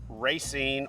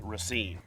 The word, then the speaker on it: Racine: good morning everybody I am in racing or Racine depending on where you're from or how you say it cuz people from here say both so I'm gonna go with Racine we are in a